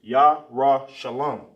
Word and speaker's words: Jerusalem: Everybody should be pronouncing this. Jerusalem is Yah-Ra Shalom.